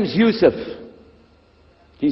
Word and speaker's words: Yusuf: we'll work on it inah my name is Yousef can you say Yousef you say Yousef you're very good I wish